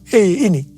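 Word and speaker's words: ה: yang terbentuk pada huruf He ini merupakan gambaran celah atau jendela mulut Tuhan yang menghembuskan rohnya. Perhatikan juga cara pelafalan huruf ini. Pun seperti orang yang menghembuskan nafasnya. Hei.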